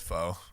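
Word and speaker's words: phở: It's she mispronounced Vietnamese pho. soup. It's pho.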